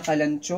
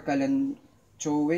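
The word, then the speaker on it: Kalanchoe: Snow Panda na Kalancho or Kalanchowe, yung ibang pronunciation nun.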